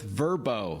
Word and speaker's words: Vrbo: on check it out we'll catch up with verbo formerly VRBO but it's the same app that